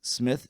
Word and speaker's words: Psmith: And like the song and the name of this book is Smith Journalist by PG Woodhouse and Smith is spelled with a P to distinguish it from other Smiths.